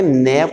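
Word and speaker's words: knave: अच्छा मैंने नेव पढ़ा, नेव, क्योंकि ये आ गया ना KN, तो के साइलेंट होता है इसमें भी के साइलेंट है।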